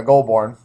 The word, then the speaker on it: Goulbourne: Thanks to Teep's pronunciation for me. Um, but anyway, yeah, Goulbourne.